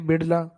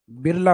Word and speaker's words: बिड़ला: जैसे आप ये स्पेलिंग देखते हो बिड़ला की, तो होना तो ये चाहिए बिड़ला, लेकिन ये डे वाला, डी वाला या आर लिखते हैं, तो धीरे धीरे हिंदी में बिड़ला क्या बिरला हो गया आजकल।